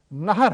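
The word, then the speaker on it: نهر: کا تلفظ کرتے ہیں۔ عربی میں ایک بات تو یہ یاد رکھیے، جیسے میں نے پچھلی دفعہ بھی بتایا تھا کہ ہے کا تلفظ اس طرح نہیں ہوتا، تو یہ کہ ہے پر زبر ہے، نہر ہے لفظ نہر۔ تو بے نہرن، دریا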